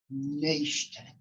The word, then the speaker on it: Naishtat: thank you very much my last name is difficult to pronounce it's nation i'm a white male